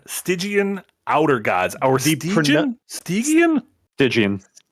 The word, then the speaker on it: Stygian: Stygian. The pronunciation of this has been a hot debate. Stygian is, I believe, the correct pronunciation.